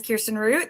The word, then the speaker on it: Kirsten Root: My name is Kirsten Root. Thank you so much for pronouncing it correctly.